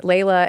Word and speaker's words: Leila: That would have helped my life if it had been spelled Layla, because people would know how to pronounce my name. But no, they weren't. Actually, my father is an Arab immigrant, and Layla, Leila, is an Arabic name.